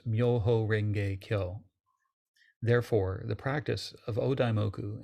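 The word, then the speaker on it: 妙法蓮華経: In Japan, these characters are pronounced Myoho Renge Kyo.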